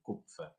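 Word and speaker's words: Kupffer: Sí, se escribe con K u p f. Sí, cupfer.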